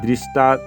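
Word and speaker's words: দৃষ্ট্বা: এখানে আমরা দেখো যে এই দৃষ্টা মধ্য ট ব ফালা এখানে একটা যুক্তবর্ণ দেখতে পাচ্ছি এটাকে আমরা আলাদাভাবে ভেঙে নিয়েছি মধ্য ট এ ব ফালা আকার তো তারপর তু সব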